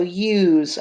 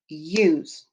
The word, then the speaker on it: use: going to shrink it use now i'm going to say each individual each individual sound you z slide them together use the s says z and the e is silent number four are these